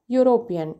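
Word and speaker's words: European: His wife is blank यूरोपियन। यहाँ पे ये जो वर्ड है यूरोपियन भले ही वॉवल से स्टार्ट हो रहा है लेकिन इसका प्रोनाउंसिएशन या हो रहा है जो कि कॉन्सोनेंट है, इसलिए यहाँ पे ए आर्टिकल का यूज़ होगा।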